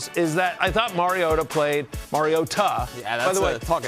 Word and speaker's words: Mariota: Marcus Mario Ta. We were told that it's important to put the the uh pronunciation on the T.